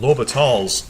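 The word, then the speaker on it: L'Hôpital: except in either event you don't pronounce the s in this French mathematicians name so low but all's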